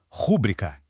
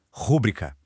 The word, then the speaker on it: rubrica: logo no início, falando rubrica. Mas a regra diz que a força está no meio. O certo é rubrica. O detalhe mais importante: notem que os sons emitidos são iguaizinhos, não teve nenhum erro de ortoepia. O desvio foi só na localização da força, o que ilustra com perfeição o que é de fato um erro de prosódia.